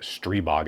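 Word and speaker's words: Stribog: Its real comparisons are things like AR9's, uh, the CZ Scorpion, and probably the Stry Strybog, Strebog, I think it's how you say it. Strebog, I got corrected on that.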